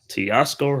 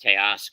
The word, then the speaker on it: Teoscar: the pitch to hernandz and it's a strike Tasco Hernandez 0 and one it's actually pronounced teoscar tar T tcar all right the 01 pitch